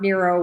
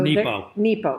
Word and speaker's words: Nepo: Mark Nero was fighting cancer when he wrote this. And it's beautiful. So Nepo. Mark Nepo. Did I say it wrong? Nemo. I said Nemo.